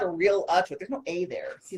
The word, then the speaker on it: Realtor: It's Realtor. Realtor. It's not Realtor. Realtor? No. Wrong answer. No. There are no toaster bells. You're a realtor. Realtor. Yes, exactly. You're not a realtor.